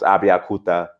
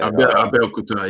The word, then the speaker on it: Abeokuta: I'm gonna mispronounce Abiakuta. Or Abeokuta, yeah.